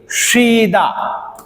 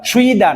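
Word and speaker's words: 쉬다: তারপরে আমরা এখানে দেখি শ্রীদা, এখানে যে শব্দটি আছে সেটি হলো শ্রীদা, এটির উচ্চারণ শ্রীদা শ্রীদা বিশ্রাম নেওয়া, সুইদা না, শব্দটার উচ্চারণ হবে শ্রীদা শ্রীদা।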